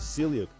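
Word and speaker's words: ceiliog: she pointed out that the welsh word for rooster is celiac whose pronunciation sounds very similar to kellogg the top five most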